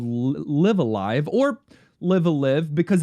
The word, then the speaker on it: Live A Live: Live? No, they said Live Alive. Live Alive. They said Live Alive. I don't love it. Yes. I love the different pronunciations on either one with the same word, but if they said Live Alive, I guess that's officially it.